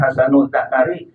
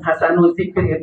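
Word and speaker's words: حسن الذكر: Bacanya, maaf jangan keliru, jangan hasanul zakari, itu bahaya sekali, ya. Yang bagus punyanya itu lainnya. Ini hasanul zikri itu yang bagus sebutannya. Zikri di sini zikru untuk sebutannya.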